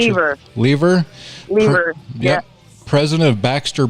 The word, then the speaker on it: Lever: How do you pronounce Lever. it? Lever.